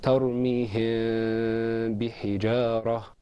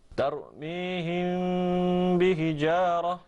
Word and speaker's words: ترميهم بحجارة: The correct way to say that is ترميهم بحجارة. ترميهم بحجارة.